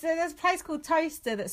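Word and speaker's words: Towcester: ] what's that place near us that gets pronounced wrong all the time no sir yeah it's a high school toaster that spelt like Tao Westar yeah come to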